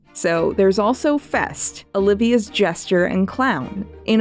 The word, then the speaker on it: Feste: [Feste is I’m told pronounced ‘Festy’ or Festay] I’m so sorry.